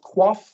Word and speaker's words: QOF: Next one is, it's pronounced QOF. You might have heard of that. QOF.